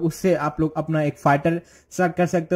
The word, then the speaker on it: FITE: फाइट pronounce as अ फाइटर guys, फाइट ठीक है, फाइट एज a machine जैसे मैंने बताया.